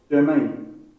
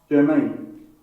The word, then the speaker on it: germane: Germain. Germain. So instead of Germany, it's like we can say Germain.